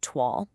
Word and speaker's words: toile: You'll hear it pronounced toile.